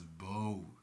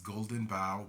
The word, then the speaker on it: The Golden Bough: And some people have the tendency to pronounce it as bow, but it's Golden Bough by James George Fraser.